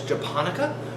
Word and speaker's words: Japonica: There's Japonica rice, that's the short little fat ones that make sushi rice. The way I remember is it sounds like Japan.